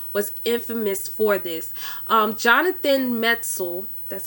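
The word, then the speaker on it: Metzl: the criminally insane was infamous for this jonathan metzel that's how you pronounce his name he's the author of the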